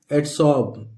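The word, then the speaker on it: adsorb: इसी तरह लिखा है एडसॉर्ब, ये आर यहां पे साइलेंट है दोस्तों, एडसॉर्ब, एडसॉर्ब, एडसॉर्ब नहीं पढ़ेंगे इसको, एडसॉर्ब।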